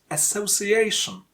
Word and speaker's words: association: For example, in the word association, A before shin is a stressed syllable. A before shin is a stressed syllable, which means you have to make that syllable a bit longer and a bit louder than other syllables. So we have to pronounce it association.